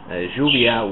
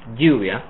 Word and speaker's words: lluvia: So the version with lluvia is a little stronger. It's actually an affricate, and it's kind of between the Y sound and the J sound in English.